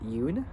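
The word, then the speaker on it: Yune: Tran, played by Rick Yoon, which is his last name is spelled Y-U-N-E. It's like saying June, but taking out the J and putting the Y into it, so it's spelled Y-U-N-E in Racehorse 2001.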